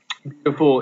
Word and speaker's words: beautiful: Beautiful is stressed at the beginning, beautiful.